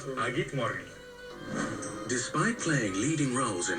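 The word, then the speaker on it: אַ גוט מאָרגן: Agit morgen. Agit morgen.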